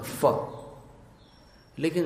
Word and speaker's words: फल: संभाल के करना होगा क्योंकि संस्कृत भाषा में इसको फल नहीं बोलते हिंदी में आप फल बोलते हैं फ फ में ऊपर के दांत और नीचे के होठ को मिलाना होता फ लेकिन संस्कृत में दोनों होठ से फ का उच्चारण करना होता है मुक्ता फल ुति मु